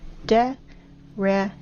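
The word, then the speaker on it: дерево: You know, in the Russian language, the word tree is spelled D-E-R-E-V. R-E-V-O. De-re-vo.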